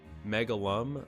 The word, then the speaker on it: Megalvm: That's called Megalum, but it's spelled Megalvm instead of UM.